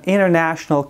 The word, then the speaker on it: international: و یاد داشته باشین زمانی که تی بعد از ان در وسط کلمات استفاده میشه، معمولا تی را تلفظ نمی کنن در انگلیسی عامیانه یا گفتگویی. مثلا به این شکل میشنوین: It is an international custom.